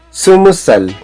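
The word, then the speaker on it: 스무살: Yolyosotsal, Yolilgubsal, Yolyodolsal, Yolahubsal, Sumusal. Ito pong 20 sa Korean numbers ay sumul. So, sa edad, pag sinasabi, sumusal, hindi binibigkas yung riyol, ra, or r sound.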